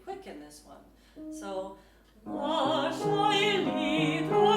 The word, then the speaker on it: Lascia: For example, Lascia, the sh is doubled.